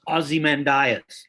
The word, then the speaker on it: Ozymandias: worth looking up it's it's a canada we pronounce this aussie man diet nice that that may not be american english well you know given how americans do things you might have it the right way we might have it the wrong